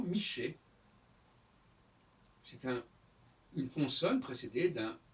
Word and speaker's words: Michel: La bonne prononciation, c'est effectivement Miché.